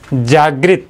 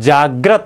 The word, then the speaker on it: जाग्रत: यह शुद्ध होता है जागृत जागृत नहीं होता है जाग्रत होता है जाग्रत जागरण